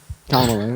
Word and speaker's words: Kamala: but so I mean you like Kamala right Kamala is how you pronounce her name and yes I do like